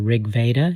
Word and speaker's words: Rig Veda: of the gods mentioned i think in the rig veda is that how you say it yes yeah